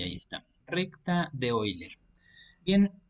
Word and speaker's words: Euler: baricentro y el circuncentro se llama recta de oiler se escribe Euler y es precisamente lo